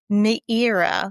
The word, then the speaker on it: Meira: MEIRA, like Madeira wine, but MEIRA.